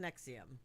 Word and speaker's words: NXIVM: It is pronounced Nexium.